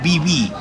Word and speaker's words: Viví: Para comenzar el día vinimos a un restaurante típico Viví. Creo que así es como se pronuncia.